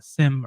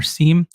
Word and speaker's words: SIEM: They're saying that Microsoft suggests focusing on identity, XDR, and SIEM alerts, which you can pronounce SIM or SIEM, and the following scenarios are particularly suspicious for Midnight Blizzard activity.